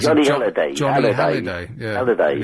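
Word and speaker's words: Hallyday: I pronounce Johnny it Halliday.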